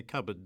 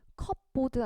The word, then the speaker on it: cupboard: 여러분 우리 찬장을 뜻하는 이 단어 컵보드 아니고요. cupboard입니다. 뒤에 이 P는 묵음이에요.